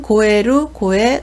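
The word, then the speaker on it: 肥える: 훈독은 고에루, 고야스, 고야시라고 있습니다. 에루가 나오면 고에루라고 읽어서 살찌다, 비옥해지다 라는 뜻이고요.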